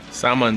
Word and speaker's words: salmon: it's a little small salmon something just remember that the L is silent yeah the least thing